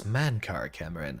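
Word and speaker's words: Mankar Camoran: in his own right remember that pronunciation main cara cameron i think he's referred to as mankar cameron in some other contexts exactly do the best with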